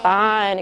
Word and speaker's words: fine: What's going to happen when we add the silent E? Fine. It goes to the I sound, the long sound of the I.